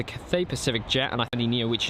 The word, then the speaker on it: Cathay Pacific: A330 300 with a sorry Cathay Pacific we had a message about me mispronouncing that so uh really big thank you to the person that said had corrected me so that's the cafe pacific Jet and Anthony Neo